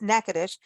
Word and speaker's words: Natchitoches: whenever we talk about nakadish by the way it is spelled n-a-t-c-h-i-t-o-c-h-e-s but pronounced nakadish every time we talk